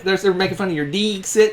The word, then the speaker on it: Dixit: They're making fun of your Dixit. It's technically Dixit because it's a long I sound, and it's Latin.